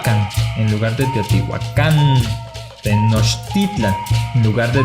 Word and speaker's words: Tenochtitlan: también cambio el acento esto se debe a que en el agua todas las palabras son graves entonces recopilando tenemos méxico